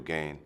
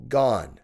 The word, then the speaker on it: Gane: that no doubt go ahead and say Cyril gone for me serial gain let's try again Cyril gone material gain Cyril gone material gain I feel like you're doing this on purpose